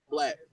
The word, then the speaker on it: 6LACK: Yeah, its name is spelled 6LACK, Okay. but his name is Black.